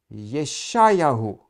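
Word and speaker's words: יְשַׁעְיָהוּ: So now we before the exile the ministry of prophet Isaiah himself in that time period and Isaiah the name Isaiah in Hebrew it's pronounced as Yeshayahu and it's a theophoric name.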